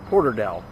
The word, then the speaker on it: Porterdale: there's a guy laughs I think I used an ass it's Porter Dale and here's the historic